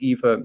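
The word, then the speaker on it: Aoife: out i'm irish and my name is pronounced eva if you haven't heard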